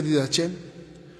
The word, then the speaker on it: Didache: Un escrito se escribe Didache y se lee Didache en griego, y significa enseñanza.